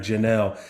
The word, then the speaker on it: Jahnel: Yeah, just to make sure, because I want to make sure I pronounce your last name right. Correct, right? Yep, it's Jahnel.